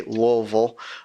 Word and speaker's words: Louisville: up in Louisville Kentucky or is people from the area would say Louisville make sure to say it like you have a mouthful of mashed potatoes or something but I grew